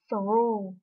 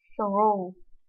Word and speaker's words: through: Mình tạm gọi tiếng Việt là chữ G và chữ H thì hai chữ này là âm câm cho nên mình không phát âm, mình chỉ đọc là through.